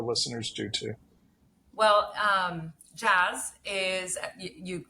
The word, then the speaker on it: Jas: sure that our listeners do too well um jazz is you pronounced it correctly jazz is an alcohol-free beverage